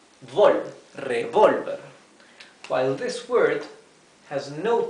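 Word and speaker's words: revólver: difference this minor difference revolver is revolver with a TI the ti here on the o it means that this the the accent is in this syllable revolver while this word has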